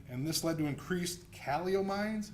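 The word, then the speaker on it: catecholamines: causes great pain and this led to increased calomines how do you say that calio maybe you can help me out okay thank you catakolamines calakolamines those are the hyper hormones epinephrine norepinephrine and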